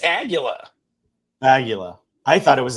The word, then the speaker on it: Aguila: It's Aguila. Nice. It's Aguila.